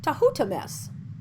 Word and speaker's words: Thutmose: in several different spellings the royal name the Thutmose may be written as 2 u th MOS is that moses Thutmose taught myths are even to who thomas the last is in fact closest to the original pronunciation as far as can